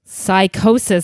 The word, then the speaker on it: Psychosis: Psychosis. I'm so glad you pronounced that because the spelling, I would never have guessed.